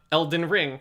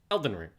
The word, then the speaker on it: Elden Ring: stress unstress on stress every actress calls it elden ring it's not elden ring it's elden ring so be very careful